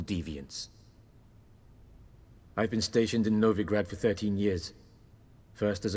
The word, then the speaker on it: Novigrad: so what's new in novagard any news from novigrad novigrad oh I've been saying it wrong the whole time I've